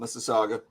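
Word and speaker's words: Mississauga: Toronto I live in a city called Miss Saga similar to Mississippi that's right syllables um my journey is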